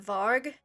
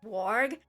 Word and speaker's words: Varg: And I know from my limited knowledge of remembering German from when I took it in school is that they do change their W's and their V's around. So to me I would pronounce it Varg, but to them I think it's Warg.